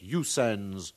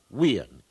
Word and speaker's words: USA: the disc of oans now we know that usans is incorrect and the symbols USA are properly pronounced weans well thank you srack I believe San is